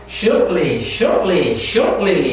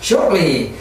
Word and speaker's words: shortly: Shortly. 이와 같이 shortly. 이렇게 T를 막 하려고 했어요. 영국에서 발음하는지 모르겠어요. 영국은 내가 안 들어봤기 때문에. Shortly. 네, 영국도 역시 발음하지 않군요.